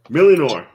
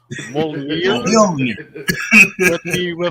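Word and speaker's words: Mjölnir: I believe that is pronounced Mjolnir.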